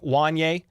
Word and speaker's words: Wanya: and they'll definitely try Wanye it's why if you guys ever forget how to pronounce the guy's name it's literally Kanye with a W or it's Boys to